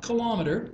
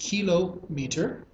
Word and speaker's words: kilometer: a hectometer and then a kilometer it's not kilometer it's pronounced kilometer there's a th000 m in a kilometer okay